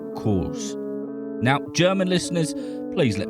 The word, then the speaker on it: Kroos: we go any further sometimes you'll hear Tony referred to as Tony Cruz but apparently the German way to say his name is co now German listeners please